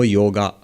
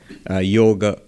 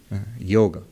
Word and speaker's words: yoga: correct pronunciation would be yoga not a yoga in Hindi you would say yog in Bengali yog but never yoga so what is this